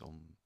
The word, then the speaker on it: Om: The Om syllable is made of 3 sounds. A con U diventa O con Ma diventa Om.